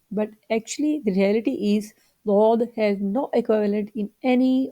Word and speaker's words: ض: this is the letter dod. Its pronunciation very special. It is often confused with the letter dal of the Arabic or the D of the English. But actually, the reality is dod has no equivalent in